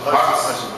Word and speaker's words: Hodgson: Oui, Hodgson.